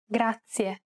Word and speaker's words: grazie: previous lesson it's pronounced grazia this word uses the rolled r sound grazie to pronounce this sound